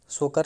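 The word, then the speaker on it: Tso Kar: अब ये जो होगा सो लेक, टी यहाँ पे साइलेंट होगा, सोकर लेक है, ये लद्दाख का है।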